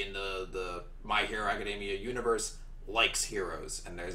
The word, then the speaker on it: Academia: I feel like an idiot now because you pronounce it Academia and that makes way more sense than the way I pronounce it which is acadamia so yeah I still occas used to those